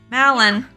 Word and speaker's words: Malin: little bit of walking Malin that's not a bad name at all that rhymes with Talon it's like all I